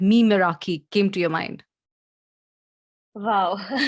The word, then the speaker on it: Meraki: Today, I have with me the CEO and founder of Meraki, Miss Yosha Gupta.